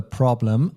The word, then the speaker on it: Problem: That's the problem. And only the pronunciation is a bit different. Instead of problem, we say Problem. Our kind of focus is on the second syllable.